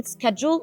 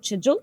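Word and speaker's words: schedule: كلمه سكادجول او كاجوال لها كذا نطق، وفي كمان شيدجول، فبغض النظر عن النطق بتاعها it's not an accent like or pronunciation session، دي مش حصه نطق.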